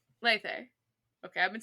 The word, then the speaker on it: Lethe: Oh, it's 2 long E's, so it's Lethe. Lethe.